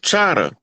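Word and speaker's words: Chahta: The My right, mother Choctaw. right, Yeah. Choctaw is a mispronunciation. It's an English pronunciation of Chata. And Oh. the Louisiana, the French pronounce it Chata like it's supposed to be pronounced.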